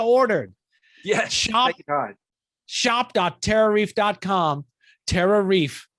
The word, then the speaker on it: TerraReef: TerraReef. It rhymes with beef.